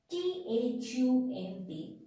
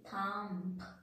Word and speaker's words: thumb: That means whenever letter B is sitting just after the letter M, in that case, we are not pronouncing letter B. In that case, letter B is the silent.